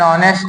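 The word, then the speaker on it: honest: जैसे बोला जाए एन ऑनेस्ट मैन। यहां ऑनेस्ट जो है यह एच से शुरू हुआ है लेकिन इसका प्रोनाउंसिएशन ओ दे रहा है।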